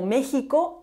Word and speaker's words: México: Hay algunos nombres de lugares en los que la X no está a inicio de palabra y también se pronuncian como J o como sh porque se han fosilizado, como México o la isla de Holbox.